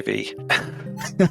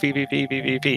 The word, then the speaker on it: VVVVVV: Uh, I just say V. Okay. When people ask me this question by text, I always say, "Oh, it's pronounced V V."